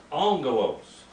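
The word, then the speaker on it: ἄγγελος: show you another one angelos do you see how the two g's or gammas become the first one becomes an n sound and by the way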